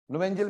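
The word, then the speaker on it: Knoevenagel: नोवेंजियल में के साइलेंट है ना, नोवेंजियल कंडेंसेशन।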